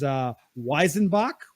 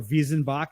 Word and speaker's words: Weizenbock: There's Weizenbock, which is, or Wiesenbock, depending if you want to use the traditional German pronunciation, which is a wheat forward style of Bock.